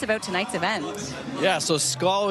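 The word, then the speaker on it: skål: Yeah, so SCAL is spelled S-K-A-L. It is Scandinavian for cheers.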